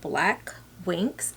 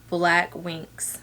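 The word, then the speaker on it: Blaque Winkx: My cousin's, her company is called Black Winks, and Black is spelled BLAQUE, and Winks is spelled WINKX. So you can find her Instagram account at Black Winks.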